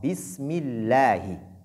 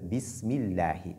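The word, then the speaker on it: بسم الله: C'est comme le cas de Bismillahi. Donc on dit ici Bismillahi et non Bismillahi. Le Ha qui est venu au niveau de Allah doit être bien prononcé et ne pas le remplacer par Ya.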